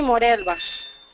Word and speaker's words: Morelva: ¿Estamos pronunciando bien tu nombre, Morelva? Sí, Morelva. Morelva, ok.